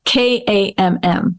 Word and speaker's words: Kamm: And I'm going to spell it because with the last name, maybe pronouncing, maybe it'll help. So, so but it's Kamm.